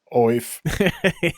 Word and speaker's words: Aoife: I wouldn't have guessed Aoife as the pronunciation, but I kind of like it actually. Oi. What? Oif.